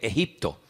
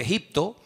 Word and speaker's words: Egipto: Entonces él toma al niño, toma a la madre y se van al extranjero, concretamente al país de Egipto, que en la Biblia se pronuncia Mitzraim.